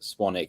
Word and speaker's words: Swanwick: your last name correctly swanik yes it's spelled swan wick but it's pronounced swanic he did a great